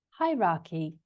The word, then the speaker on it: hierarchy: Hierarchy. Hierarchy. So it goes up. The stress is on the first syllable. And maybe to help you remember that, high is obviously to go up. So maybe that helps you remember that it starts with a stressed syllable, hierarchy.